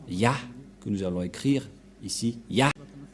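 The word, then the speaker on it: יה: allons réécrire allons-y euh en premier c'est y et he et ça se prononce selon les Juifs le premier terme que je fait mettre en bas sa prononciation ce luit y et l'autre se lit ah h je vais expliquer simplement et lorsque on va regrouper à la normale ça se transforme en ya que nous allons écrire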